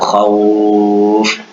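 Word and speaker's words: خوف: Quraisy dibaca menjadi seperti bunyi i, atau khauf kita baca lunak menjadi bunyi seperti u.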